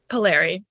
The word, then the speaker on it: Palieri: and then immediately I forget exactly how you pronounce it. Tell me Well, you again. could you could just say Palieri. Palieri. Okay. Easier. Palieri.